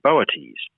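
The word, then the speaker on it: Boötes: is the brightest star in the constellation of boates that's not a constellation most people are familiar with moieties it's spelled b-o-o-t-e-s and it means the herdsmen or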